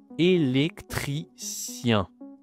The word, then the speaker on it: électricien: Féminin et bien c'est simple, c'est tout simplement au masculin un électricien. électricien sien encore la nasale yen pas facile hein la prononciation avec le fémin c'est une électricienne.